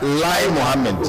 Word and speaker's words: Lai Mohammed: Okay, let me help you pronounce it. Mr. Lai Mohammed.